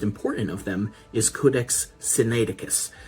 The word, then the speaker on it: Sinaiticus: of them is Codex Sinaiticus. It can be pronounced a little bit differently, but the main part is you have the word Sinai in there because it was found at a monastery around Mount Sinai.